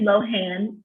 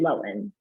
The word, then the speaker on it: Lohan: up a firestorm by merely pronouncing her name with the enemies on a long o and not the h so wow i've been saying lindsay lohan but right now she's